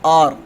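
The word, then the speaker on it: hour: Sound जो है उसमें पहले आती हो, जैसे आर, ठीक है।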